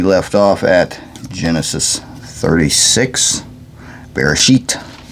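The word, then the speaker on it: בראשית: Alright, so we left off at Genesis 36, Bereshit. That's how it's actually pronounced in Hebrew, I suppose.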